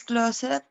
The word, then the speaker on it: closed: The window is closed closed. by The teacher. Ok, the window by is the closed. Closed. Vean que closed. aquí la terminación de es como T.